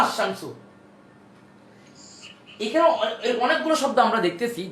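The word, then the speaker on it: الشمس: এখন এই যে কোন কোন জায়গায় গিয়ে লামটা উচ্চারণ হচ্ছে না। যেমন উদাহরণ আলশামসু বলে সুন্দর হচ্ছে না। আশশামসু এখানে অনেকগুলো শব্দ আমরা দেখতেছি যেখানে লাম যুক্ত আল যুক্ত করার পর লামটা উচ্চারণ হচ্ছে না।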